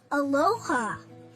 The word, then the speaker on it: aloha: Aloha.